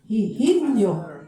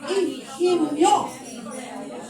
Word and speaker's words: Higinio: Okay, Higinio Benitez, again, I said Higinio. Oh, stop. O so paano? Ihinyo. Ihinyo. Everybody say, Ihinyo. Oh, silent H pala yun.